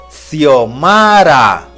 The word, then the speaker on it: Xiomara: el sonido es cuando la x se encuentra al inicio de una palabra se pronuncia como s por ejemplo xiomara pero si se encuentra